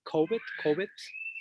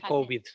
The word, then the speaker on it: covet: Basically, he's saying here, without my devotees, I do not, how do you say, covet, not COVID, but covet, my own self.